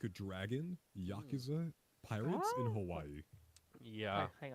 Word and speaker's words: Yakuza: Hey, pronounce Yakuza like you say like you pronounce the word Jacuzzi. Yakuzi or no, pronounce the word jacuzzi like yakuza. I don't get it. I don't get it. It's just they're two very similar sounding words. You just pronounce them like the other one.